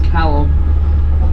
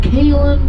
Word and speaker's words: Callum: is my first name's callum but uh anytime i tell americans my name's calum they generally come off the vehicle they're like so is that kaitlin kylem how do you say that again oh my god don't